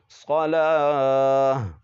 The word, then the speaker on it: صلاة: کھڑا زبر لا، صلا، یہاں پر بھی واو کا تلفظ نہیں ہوگا. تا دو زبر تن، صلاتن، وقفا، صلاة.